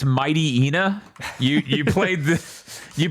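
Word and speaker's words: Mightyena: I gotten the play test for Might Rea, which is spelled the word might then re y a all connected. I'm sorry. That's Mighty Ena.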